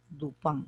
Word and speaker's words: Dupin: august tu pan august duplán dupin se escribe pero se pronuncia el pan está en francés augusto el lugar del